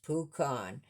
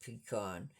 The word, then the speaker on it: pecan: Um, our state tree is the pecan tree, pronounced pucon. Um, and we've always pronounced it like that, too, because my mother was from Louisiana and they always pronounced it peon.